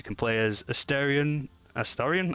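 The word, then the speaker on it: Astarion: play as a Starion Astorian I keep saying that name wrong astarian Aryan thank you a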